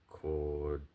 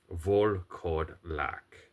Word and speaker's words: Volkodlak: Okay, so if you, they're a Czech creature, and let me get the proper pronunciation. Volkodlak. Volkodlak.